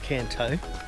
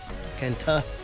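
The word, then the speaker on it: Thơ: We are in a little village called Tho. That's not how it's pronounced. Apparently it's pronounced Tho, something like that.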